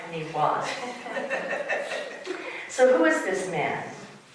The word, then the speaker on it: Niwot: Niwot is the Arapaho word for left hand. It means left hand. However, let me tell you, it is not pronounced Niwot in Arapaho. It is pronounced something like Niwot.